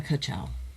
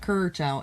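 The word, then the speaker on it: Ka-chow: A Kachchow. Not Kurchow. It's spelled Kachchow.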